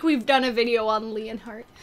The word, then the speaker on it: Lionheart: Leonheart. It's Lionheart. Ah, no! Not Leonheart.